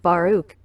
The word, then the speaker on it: Baruch: boy's name is pronounced Baruch it is of Hebrew origin and the meaning of